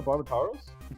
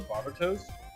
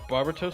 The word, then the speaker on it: Barbatos: I'm like, "Oh yeah, have you seen the Barbitaros?" And somebody goes, "You didn't say it right."